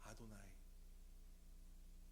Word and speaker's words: 아도나이: 그들은 그렇게 쓰고 이렇게 발음합니다. 나의 주님, 나의 하나님. 그 발음이 들어보셨을 것입니다. 아도나이.